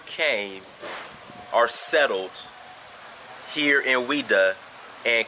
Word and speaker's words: Ouidah: you know without even the real name is wida because the people who